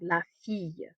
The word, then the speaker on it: fille: That double L gives us a y sound, la fille.